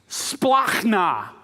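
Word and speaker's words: σπλάγχνα: How do you say that word? Just give it a try. This is how you say it. Splachna.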